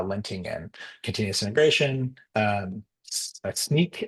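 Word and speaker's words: Snyk: Um, Sneak apparently is how you pronounce it.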